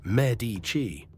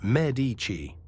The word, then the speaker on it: Medici: The whole world says Medici. Italians say Medici. The stress on the first syllable.